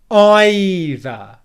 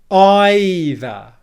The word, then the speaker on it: either: want to say is stress on the first syllable i and then we're going to do the same thing with our tongue stick it out in between our teeth and then pull it back for that like this either either either either